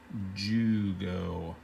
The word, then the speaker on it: Jugo: with but this which is with a J jugo it's just another way to write the word Yugoslavia just pronounce the J like a whi Yugoslavia Yugoslavia